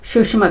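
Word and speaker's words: Tsushima: ठीक है, जापान सागर के पश्चिमी तट पे जाकर सुषमा करंट, टी साइलेंट है इसका। सुषमा, ठीक है, सुषमा करंट है।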